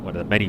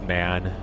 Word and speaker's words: MAN: Yeah, I guess it's man. I guess they just pronounce it man, not M-A-N.